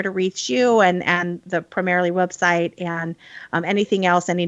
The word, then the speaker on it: Primerrily: Primerrily is a portmanteau of primer and merrily, like the New England primer of education and merrily down the stream. So it's spelled differently than it sounds.